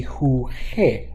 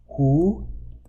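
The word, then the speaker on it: jugué: If you conjugate it regularly, it would be juge, right? A soft G sound. We know it's not. We know it's a hard G sound, so we're going to add a U in there.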